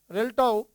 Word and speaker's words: RELTTAW: That's the right pronunciation. RELTTAW, the exchange program that's happening in for the